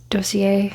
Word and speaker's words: Dossier: perfume collection, and I actually did partner with Dossier.